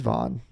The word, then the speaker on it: Van: If somebody else was like, this is how you pronounce it, he just straight up told DJ's like, my name is actually Vaughn and they mispronounce it.